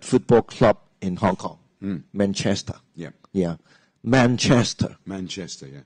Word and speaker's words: Manchester: the most favorite football club in Hong Kong Manchester yeah yeah Manchester Manchester yeah not uh not